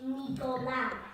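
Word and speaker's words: Nicolás: As in Spain, they would say Nicolas. Nicolas, that's it. And that's how because it's spelt the Spanish way. Nicolas. Because here they put a H in it, I think. Spanish, Nicolas. As in Nicholas, it's the same, just in the Spanish accents, it sounds different.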